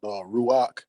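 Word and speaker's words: רוח: I just have one statement to make in regards to when you was talking about Ruach.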